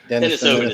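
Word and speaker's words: Denisovan: Denisovin is how it's pronounced.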